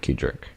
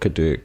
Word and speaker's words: Kadirk: Because I know some people pronounce, Farm Sim guys, I think he pronounces it Kadirk because of how it's spelt, but the man himself says Kedrick Farms.